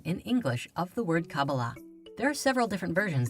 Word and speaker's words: Qabalah: in the Hebrew alphabet these four letters together are pronounced cabala however the most common